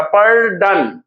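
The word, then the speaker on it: pardon: next देखिए option C में लिखा हुआ पर्डन मतलब क्षमा करना, पर्डन, पर्डन 2 पार्ट हो गया, तो यानी कि 2 सिलेबल हो गया इसमें, और पर पहला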